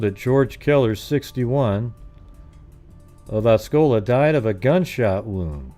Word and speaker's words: Osceola: Essola. Let's type it in. How do you do that one? How do you pronounce?